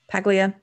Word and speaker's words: Paglia: you familiar Julian with Camille Paglia pequea am i saying right she's a feminist professor you're saying it right yes I am she's